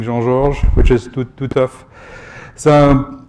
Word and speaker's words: Jean-Georges: the us i um i lost a little bit of french way of pronouncing jean george which is too tough